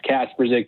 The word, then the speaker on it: Kasperzick: your name uh you you said it perfect mark it's it's casper zig trust me i only